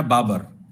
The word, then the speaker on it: Babur: Uzbekistan میں ازبک لوگ جو ہیں وہ بابر کا پروننسیشن کرتے ہیں بابر، اور وہ بابر لکھتے ہیں، وہ پروناؤنس کرتے ہیں بابر. اس لیے آپ دیکھیں گے کہ انگریزی کے پرانے ٹیکسٹ میں بابر ہر جگہ پہ BABUR لکھا ہوا ہے، چونکہ وہ بابر بولتے تھے اور بابر لکھا.